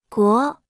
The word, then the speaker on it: 国: 国，国，国，国，国，国，国， Se pronuncia con el segundo tono.